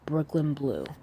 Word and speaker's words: Breukelen Bleu: it's her page is spelled b r e u k e l n b l e u Brooklyn blue so anyway let me